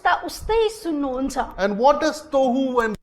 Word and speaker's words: tohu: And if you see, it rhymes with one another.